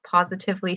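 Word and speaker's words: Pawsitively: up the website it's positively fit dot ca and it's p-a-w-s-i not spelled like pause instead of i i have trouble now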